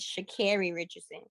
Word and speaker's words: Sha'Carri Richardson: Dennis, my name is Sha'Carri Richardson because he said it wrong.